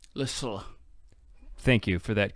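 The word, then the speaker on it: Lisieux: Saint Teresa of Avila and Saint Torres of lassoo Lissa thank you for that correct pronunciation yes especially Saint John of the Cross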